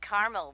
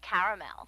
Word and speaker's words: caramel: what I said Tina actually you said caramel when it's pronounced caramel can't we just call